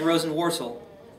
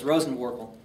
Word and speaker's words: Rosenworcel: Looks like Rosenworcel, but it's Rosenworkel.